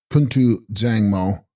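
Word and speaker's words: Kun-tu bZang-mo: Text Kuntu Bangmo pronounced Puntu Zangmo.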